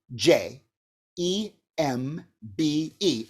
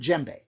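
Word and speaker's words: djembe: too here's the word gembe d that's capital d j e m b e there's jembe now the thing is we don't really pronounce the d you kind of pronounce it with the j so as a j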